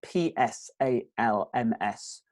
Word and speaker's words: Psalms: the Psalms that spelled PSAL M s Psalms we don't pronounce the P at start and they're like songs